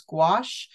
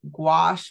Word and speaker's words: gouache: There are two different ways to pronounce it. Gouache, which I prefer, but you'll also hear people saying gouache, which is also, you know, totally appropriate.